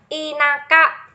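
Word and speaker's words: 田舎: Thực ra đây là một cách đọc đặc biệt đấy. Bình thường là chữ này phải đọc là ta đúng không? Ừ, này đọc là ta đấy.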